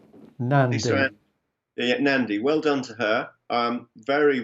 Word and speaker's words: Nandy: How do you pronounce her surname? Lisa Nandy. Lisa, yeah, Nandy.